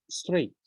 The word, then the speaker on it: straight: words mirror reflect and straight okay if you find the g h in the middle of the word don't pronounce it just stray skip them straight okay we have the